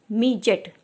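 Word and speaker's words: midget: समझ सकते हैं कि जी के पहले जब डी आता है या डी के बाद में जब जी आता है तो वहाँ पर हमारा डी का साउंड जो होता है साइलेंट होता है, जी का साउंड लिया जाता है।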